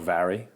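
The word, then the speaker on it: Mhairi: dad's name okay and my sister she's called vary okay and that's spelled m-h okay a-i-r-i and it means mary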